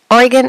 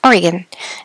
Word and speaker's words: Oregon: uh Norther southern tip of Oregon it's called Oregon is pronounced Oregon not Oregon so today what you're going to